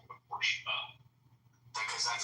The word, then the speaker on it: Porsche: You just call it a Porsche. Because that's how it's pronounced.